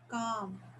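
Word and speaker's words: calm: the temple reign peaceful काम Abhijit the एल E silent like वक ॉक वक ॉक चॉक राट सिमली काम क्लीयरली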